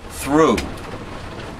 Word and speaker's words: through: the english language is silent letters like through i i went i walked through the doorway t-h-r-o-u-g-h now why the hell do you need a gh now if you threw